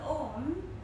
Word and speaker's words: Om: The Om is made of three syllables or sound, A, O, and M. Now the sound Om exists in everything, the